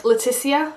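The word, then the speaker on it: Letícia: in Portuguese is pronounce Leticia it's not pronounced as harshly as English which is why when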